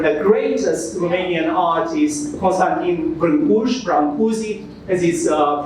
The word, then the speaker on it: Brâncuși: we named after the greatest Romanian artist, Constantin Brâncuși, as is pronounced in English.